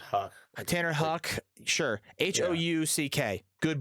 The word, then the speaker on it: Houck: Tanner Houck, I think is how you say it, or Houck. I'm not really sure. I thought it was Huck.